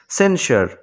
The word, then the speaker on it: censure: তাই এখানে এসের উচ্চারণ আমরা সর্বমত পাচ্ছি, তালব্যসার মতো। তারপরে সবশেষে দেখো CENSURE, সেন্সার, সেন্সার।